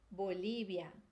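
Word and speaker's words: Bolivia: a sexta palavra é Bolívia Bolívia o que que mudou aí o ver vai ter som de bebê na maioria dos países tá não são todos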